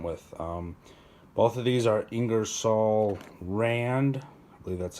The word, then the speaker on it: Ingersoll Rand: why I went with both of these are ingersoll-rand that's how you say it I got the